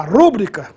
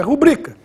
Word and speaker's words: rubrica: rubrica com muita frequência muita gente fala rúbrica mas oficialmente essa palavra é paroxítono Ou seja a pronúncia oficial é rubrica em razão disso não